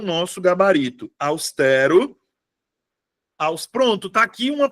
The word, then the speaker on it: austero: aqui pro austero tá Tem uma galera que pronuncia austero austero eu fico hã e Como assim então sílaba tônica é a penúltima sílaba então é paroxítona tem três sílabas tem 1 2 3